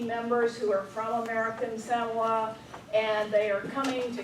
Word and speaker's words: Samoa: They pronounce it, not Samoa. Samoa.